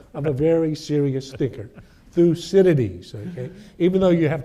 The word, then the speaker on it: Thucydides: Thucydides. So let's see if you can say that. Thucydides.